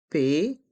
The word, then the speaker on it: poivron: It's a sound to remember and to know how to pronounce. C'est à toi. Épelle ce mot. Bravo, bien épelé. Allez, on épelle ensemble. P-O-I-V-R-O-N.